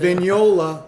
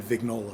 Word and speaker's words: Vignola: flare on it too venola like lasagna is correct that is correct Italian pronunciation but my family Americanized it a long time ago they've been vignola forever absolutely man I